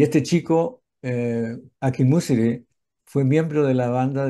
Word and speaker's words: Akinmusire: Es Ambrose Akinmusiri. Ambrose, él pronuncia su nombre Akinmusire.